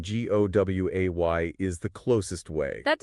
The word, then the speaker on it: Guay: It is guay. So you could maybe use the tech term gui. Uh how they pronounce it as gui.